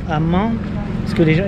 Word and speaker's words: Man: Dans une autre ville à Mans, parce que les gens, il s'écrit Man, mais ça se dit Mans.